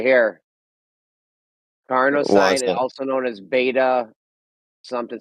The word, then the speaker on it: carnosine: Carnosine.